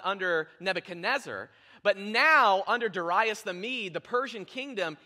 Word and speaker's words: Darius: The Bible says that, "Please," and you heard Darius, a lot of us refer to the name as Darius. The correct pronunciation is actually Darius, okay?